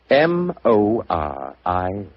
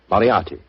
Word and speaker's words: Moriarty: Dear me, I have so much trouble with my name. People will either misspell it or mispronounce it. I'm afraid I'll have to begin calling it the way it looks. M-O-R-I-A-R-T-Y. Moriarty.